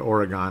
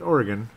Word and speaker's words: Oregon: I'm saying it correctly unlike most people they call it Oregon it's Oregon yes because I've met